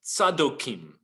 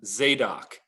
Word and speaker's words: Zadok: contrast in hebrew is sadokim those who are the followers of sadok or a guy that you may have heard pronounced in the anglicized form zedoc zedoc was a cohen